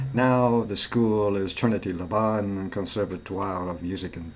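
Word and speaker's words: Laban: is by the way the Trinity leban Chapel choir yes rhyme with carbon okay thank you it's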